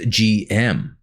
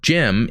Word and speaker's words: GM: the gm as far as i know is pronounced gm gm because it's an rgm type suit but jim or gem is a nickname abbreviation the gumpla mafia and